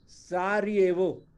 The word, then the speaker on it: Sarajevo: इसकी कैपिटल देखो बेटा, सारियेवो, देखो जे है ना, इसको ज सारायेवो, बोलते हैं, ज, सारियेवो लिखते हैं, SARAJEVO, बोलेंगे सारियेवो।